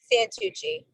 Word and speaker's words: Santucci: Santucci.